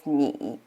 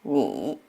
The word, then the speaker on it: 你: I in this case pronounced as E, like E, like C or me. So we say it together as 你, 你.